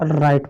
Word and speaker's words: write: आर है, तो ये आपका डब्लू है ना, साइलेंट है, चुप है, इसको राइट पढ़ते हैं।